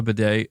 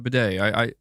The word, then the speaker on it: bidet: It's a French word.